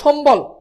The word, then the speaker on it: সম্বল: হচ্ছে, এটার উচ্চারণ করো সম্বল, দ্রুত কি হবে সম্বল, ভেরি গুড, এটাও পারতেছো অনেকে। দেখো এখানে তালব্য সম, এরপর হচ্ছে কি বল, যেভাবে আছে জাস্ট ওইভাবে। বফলা যেহেতু আছে বুঝতে পারতেছো,